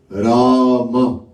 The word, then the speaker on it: Rama: Rama, 2 syllables.